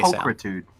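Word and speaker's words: pulchritude: Maybe someone with more p How do we pronounce it again? With a K. Pulkritude.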